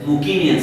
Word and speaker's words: Mycenaean: destroyed the brilliant English Mycenaean civilization, the Greek word is Mukinian civilization. Y in Greece is always pronounced as U and CSK. That is Mukinian.